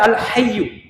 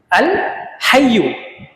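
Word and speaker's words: الحي: তা আমাদেরকে প্রথম সঠিক উচ্চারণ শিখতে হবে। যেমন একটা নাম হচ্ছে আল হাইয়ু, আল হাইয়ু।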